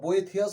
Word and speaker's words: Boethius: Consolation of philosophy by বোয়েথুস, বা বোয়েথিয়াস অনেক উচ্চারণ করে, BOETHIUS, consolation of philosophy by বোয়েথুস, অ্যান্ড সলিলোকিজ by Saint Augustine.